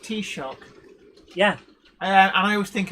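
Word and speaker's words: Taoiseach: word but i've since learned that it's it's pronounced t-shock yeah and i always think of tea shop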